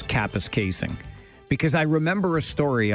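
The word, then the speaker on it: Kapuskasing: great little story from Capus Casing saying this is how it's pronounced. People from the south never seem to get it right. Capus casing is right according to the source in Capis casing.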